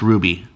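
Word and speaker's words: RWBY: rwb why is this our WB wires are pronounced Ruby I don't know it's written by Maureen Bennett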